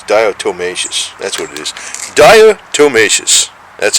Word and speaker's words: diatomaceous: that's what is diatomaceous that's what it is diatomaceous that's how you say it what a what